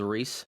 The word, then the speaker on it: Rhys: I can name drop my real name's Reese. It's RHYS.